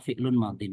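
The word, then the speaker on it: فعل ماض: Oh ini bacanya fi'lun madhin. Ketemu lagi ya fi'lun madhin.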